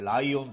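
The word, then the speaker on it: 雷音: 雷に音と書いてライオンと。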